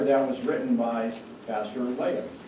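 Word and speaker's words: Löhe: Now, you'll notice that in German, it's spelled this way. I'm using the anglicized version that I was taught at the seminary, where it is L-O-E-H-E, Leah. And that's how we say it at Fort Wayne, Leah.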